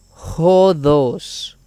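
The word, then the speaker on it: ὁδός: G, aquí tenemos también esta palabrita que inicia con espíritu rudo, lo cual nos dice que se pronuncia jodos.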